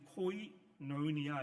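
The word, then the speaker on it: κοινωνία: 이 헬라어에서는 이렇게 V자로 보이는 이 단어가 V가 아니고 N으로 발음이 됩니다. 그래서 여기 보시면 이제 코이노니아 이렇게 읽게 되는 것인데 이 헬라어 단어를 영어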